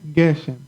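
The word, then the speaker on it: גשם: Geshem, right here, Geshem. So the force is at the beginning of this first Geshem, Geshem, okay?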